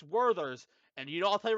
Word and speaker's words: Werther's: Oh, Waither's original. No, no, no, Ross, you Werther's, dare first of not, all. dare not say it like that. It's Werther's, and I'll tell you right now where I'll put those.